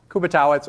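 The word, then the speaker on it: Kubiatowicz: is kubitz uh most people call me Professor Kuby because they can't pronounce my last name that's okay um actually I was in Eastern Europe a few years ago and everybody was pronouncing a or something like that which is probably more correct uh in some distant past but I'm fourth generation so kubba totz or Kuby is fine uh I have a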